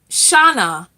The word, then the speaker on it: Shana: I can't think of the Oh, your name is pronounced like Ghana. Okay, Shana, like Ghana, but it's not pronounced Ghana.